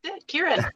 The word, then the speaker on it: Kirin: Or Kieran, just like the beer.